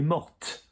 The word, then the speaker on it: morte: So really, the only extra verb I can think of which you will hear the E going on the end of it is mort. So she died, elle est morte.